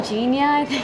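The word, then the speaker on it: Ginja: have got the game Genia is how you pronounce it it's made from the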